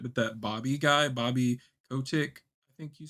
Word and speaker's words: Kotick: I haven't been like tuned into this shit, but that Bobby guy, Bobby Kotick, I think you say it.